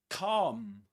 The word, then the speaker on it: calm: And this is calm. Calm in British English. Calm. Calm with a long R sound. Calm. Not calm. The L is silent.